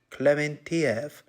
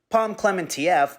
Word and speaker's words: Klementieff: Klementieff, at least I think that's how you pronounce her name. I just looked up videos on how to pronounce it, and it was just people going, Klementieff, Klementieff. So I'm just going to assume that's correct.